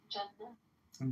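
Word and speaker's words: جنة: Jannah.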